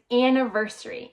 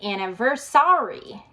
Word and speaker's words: anniversary: I hear some of my students say anniversary and some say anniversary. Anniversary anniversary. Notice that the stress is on the ver.